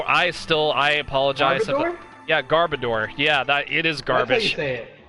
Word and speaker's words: Garbodor: I have trouble pronouncing I've always had trouble pronouncing his name we're gonna border go boy I still I apologize yeah garbodor yeah that it is garbage at garbodor yeah